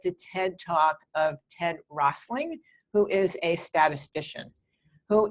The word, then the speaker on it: Rosling: And one thing I do recommend is for people to look at the TED Talk of Ted Rosling, who is a statistician, who is the most brilliant person I know at telling stories with numbers and making them interesting.